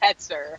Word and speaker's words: Hoetzer: Is it Hoetzer? Right, so my last one is super duper German, and it's actually super funny because I'm like not really German looking at all, but it's pronounced Hoetzer.